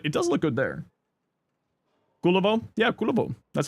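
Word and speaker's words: Kullervo: Kulivo.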